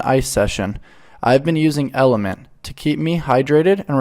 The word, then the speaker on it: LMNT: the surface for you lmnt pronounced element is a tasty electrolyte